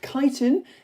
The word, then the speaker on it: chitin: Um chitin which I found out in my first lesson is actually pronounced chitin and a picture of wood louse making food and DNA and a picture of this bacteria.